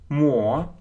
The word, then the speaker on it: more: More. Это как читается долгое о.